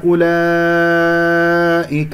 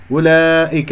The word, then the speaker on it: أولئك: بآياتنا أولئك أصحاب الجحيم، أولئك، هذه الواو والصفر المستطيل فوقها تكتب ولا تلفظ، خطأ أن تقول أولئك خطأ، هذه فقط همزة مضمومة، فأولئك وحرف المد والهمزة في كلمة أولئك مد واجب متصل.